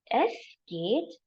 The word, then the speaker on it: es geht: It says es geht dank. Y-E-S, yes, geht. Es geht dank. This is the pronunciation tip. How to remember? You're saying yes to a gate and thank. Yes, gate, dank.